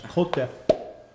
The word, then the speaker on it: Côte de: Otherwise, the correct pronunciation of that in French is Côte de.